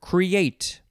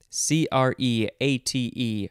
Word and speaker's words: create: It is the word create. C-R-E-A-T-E. First form. Let's see. Oh, you can emphasize either syllable. Create or create. I don't really like that second one. I prefer the first one.